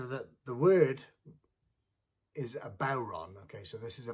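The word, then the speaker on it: bodhrán: the word is a bauron okay so this is a bauron uh some people pronounce it buran but uh traditionally called a bauron which is a gaelic irish word uh the question is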